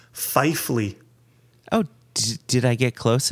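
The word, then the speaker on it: Pfeifle: Fifle? Fifle. Catwoman. So this is Ryan, and Ryan says, my ancestors were apparently illiterate because it is pronounced Fifley.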